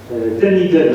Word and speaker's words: Dunedin: Dunedin, alors on prononce bien comme cela.